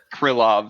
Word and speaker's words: Krylov: Krylov.